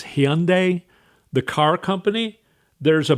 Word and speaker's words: Hyundai: It's Hyundai, the car company.